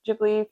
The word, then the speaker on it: Ghibli: I've been going through different Ghibli films or Giblly, depending on how you say it.